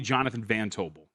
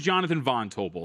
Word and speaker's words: Jonathan Von Tobel: this morning, and the host kept calling me Jonathan Van Tobel, and it drove me nuts. Oh, no, you hate that. I hate it. You want to know why? Because my name is Jonathan Von Tobel.